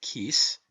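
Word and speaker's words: cíos: Such, for instance, are the Irish words ciocras, pronounced kukras, meaning hunger, and the word kis, pronounced kis, meaning rent.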